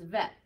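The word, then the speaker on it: ב: So without the ball in its belly, there's a vacuum. So it's vet. With the ball in the belly, it's bet.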